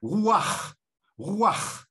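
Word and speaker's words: רוּחַ: une onomatopée en hébreu esprits se dit ouah roy pour le prononcer il faut expulser l'herbe de la gorge on obtient ce bruit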